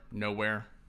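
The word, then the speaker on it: Knowhere: Nowhere, spelled with a K.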